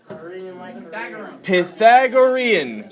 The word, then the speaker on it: Pythagorean: talk about problems so here's how you pronounce it pip egg Orion like Korean Pythagorean Pythagorean theorem all right